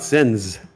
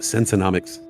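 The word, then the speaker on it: Senseonics: What do I think about Sensonics? I think I've been pronouncing it wrong for the past few months. I was calling it Sensonomics.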